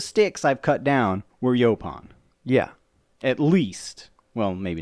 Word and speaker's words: yaupon: Yaupon. And we still don't know how to spell that, but Yaupon. Look it up. So I say yaupon, you say something different. Yaupon. Yaupon. Yaupon. Yapon.